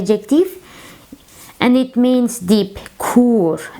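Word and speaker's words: kûr: Kur. As you see, it is long u.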